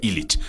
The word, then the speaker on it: Ilich: y es el igic se escribe pero se pronuncia ilich total en lucha libre